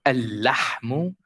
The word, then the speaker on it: اللحم: If there is another lam after, like the word al-lahmu, al-lahmu, we get rid of the first lam and we only say this lam with shadda. Al-lahmu.